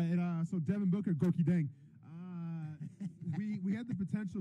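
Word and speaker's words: Gorgui Dieng: Gorky Dang. There you go. So just sound confident with it. Absolutely. All right, and so Devin Booker, Gorky Dang.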